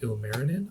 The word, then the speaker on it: Ilmarinen: So the Sampo is like a magical object in Finnish folklore that was created by there's a guy called Ilmarinen, I believe is how you pronounce it.